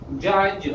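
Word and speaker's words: judge: अप, अप, जज, अगर ये डी है तो डी साइलेंट है।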